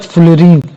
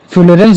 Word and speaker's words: fullerene: फिर उसके बाद फुलरीन जैसे कुछ लोग फ्यूलरेंस भी बोल देते हैं। लेकिन फुलरीन भी बोल दोगे तो भी कोई दिक्कत नहीं है। बक मिनिस्टर फ्यूलरीन। तो ये जो बक मिनिस्टर फ्लोरीन है ये भी केवल